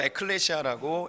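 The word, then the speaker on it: ἐκκλησία: 교회는 헬라어로 에클레시아라고 읽습니다.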